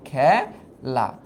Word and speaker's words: খেলা: হচ্ছে এ উচ্চারিত হচ্ছে কিন্তু আমি যখন বলি খেলা হ্যা আমি যখন বলি খেলা তখন কিন্তু উচ্চারণ হয় এরকম খেলা খেলা তার মানে এই জায়গায় কিন্তু উচ্চারণটা হইল এ এই ধ্বনিটার উচ্চারণ হইছে তার মানে এখানে তো